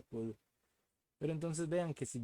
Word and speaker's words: cdr: Esta CDR se pronuncia kudro.